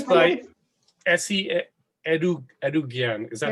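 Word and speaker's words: Esi Edugyan: Well, yeah, it's by Essie Edugyan.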